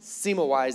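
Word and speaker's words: Semmelweis: it's not the solution there's a man named sima wise and i know that that's a weird name and i know that i'm saying it right because i googled it he's a doctor in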